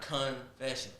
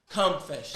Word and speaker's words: CUMfessions: I'm like, no, it's not confession. It's CUMfessions. Come with me. You gotta say it right.